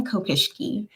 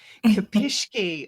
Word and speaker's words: Kopischke: Am I pronouncing it right? That's okay. It's Kopischke. Kopischke.